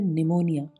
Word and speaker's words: pneumonia: PNEUMONIA, इसको क्या बोलेंगे? निमोनिया नहीं, ऐसा बोला जाता है निमोनिया, इसी बीमारी का नाम है।